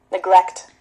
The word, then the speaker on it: neglect: And that's also difficult for you to pronounce because you want to say neck, right? Neglect. But no, it's neglect. Neglect.